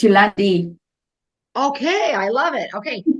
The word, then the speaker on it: Jolande: No, it's Afrikaans pronunciation, so don't stress. It's Yolandi.